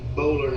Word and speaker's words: Boulware: that my friend Barrett Bowler has. That's who he works for. Barrett Bowler. Yeah, Junior. Yeah, spell It's Boulware is how it looks.